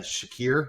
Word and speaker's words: Shakir: they dropped the ball I mean you had Shakir that's how you say his name in the